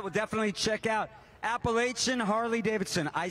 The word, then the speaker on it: Appalachian: All right, we'll definitely check out Appalachian Harley-Davidson.